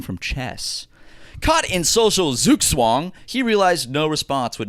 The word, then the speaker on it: Zugzwang: The word of the week is Zugzwang. Zugzwang. Zugzwang. And did you press the pronounce button? Well, I have it typed out on how it's pronounced, and it says Zugzwang. Zugzwang. Zugzwang. Because it's German.